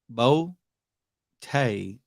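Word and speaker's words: Boutte: Like he's actually pronouncing the last name the right way. Bote. Boo Bo Tay out of LSU is good, but comes with baggage.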